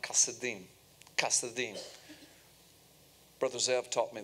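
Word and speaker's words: כשדים: To this day, in the modern Hebrew language, Chaldean is pronounced Kasadim.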